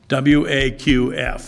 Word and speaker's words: Waqf: W-A-Q-F. If you can pronounce it better, tell me, all right.